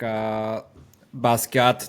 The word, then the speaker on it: Basquiat: And his latest track, Basquiat, did I pronounce that right?